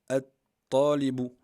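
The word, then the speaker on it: الطالب: Talibun, on va le prononcer, At-Talibu.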